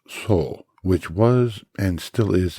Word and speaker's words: 僧: And the second is pronounced so, which was and still is a general term and one of the characters used for Buddhist monks and priests.